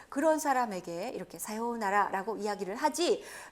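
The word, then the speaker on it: さようなら: 사요나라 김진아 봐요 나라 자 사요 우 나라라고 굳이 발음 안하시고 한박자 길게 중간에 빼줍니다 사요나라 라고 이야기를 하는데요 자 그런데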